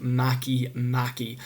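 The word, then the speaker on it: Makemake: It looks like it should be pronounced make, but due to the language that it comes from, it is pronounced Maki. So here's Maki.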